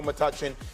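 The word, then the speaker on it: Metuchen: Joseph's High School, Matuchen, New Jersey, my high school. I'm saying it right. Best player to come out of St. Joseph's High School, Matuchen.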